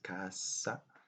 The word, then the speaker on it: casa: As you may notice, the S, letter S in casa, is pronounced as in English, as the English Z. So it's not casa, as in Japanese, casa, but it's casa in Portuguese and Italian.